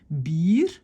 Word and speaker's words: bier: c'est pire, donc c'est bier. Et là, vous voyez, c'est pas juste deux I, c'est IE. IE est un long I. Bier, vieren, wielen, kiezen. C'est pas deux I, c'est vraiment un IE.